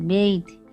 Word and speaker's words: bathe: Girls and boys बेथ ऐसे BATH, बात यानी नहाना, ये नाउन है, लेकिन यहाँ पे BATHE बेथ ये वर्ब है, इसलिए उसका प्रोनाउंसिएशन भी अलग है।